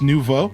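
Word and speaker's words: Nouveau: Oh, it's French for new. Okay, so it's just neuvo.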